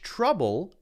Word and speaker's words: trouble: us much trouble now us much trouble is the same sound even though this is spelled o u H much trouble when you say the uh sound your mouth is totally